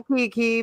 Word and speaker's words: Kiki: And then I was like, wait, I guess it's just like Keanu Reeves. But that's why I was like, hi, Kiki, because I didn't want to say it wrong.